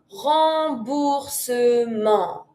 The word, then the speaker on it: remboursement: A refund is un remboursement. Remboursement. And you don't pronounce the t. Un remboursement.